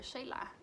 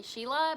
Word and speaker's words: Sheila: And a lot of people call me Sheila because my name is spelled like Sheila, but it's because my parents, you know, they just flat out named me Shayla. And in Spanish, the way that my name is spelled is the way you read it, and right here it's Sheila. So yeah, my name is confusing, but I was named after Sheila Durgal.